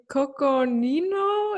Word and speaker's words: Coconino: cowboys i'm not even sure if i can pronounce the name properly coconino is that right yeah that's it who's involved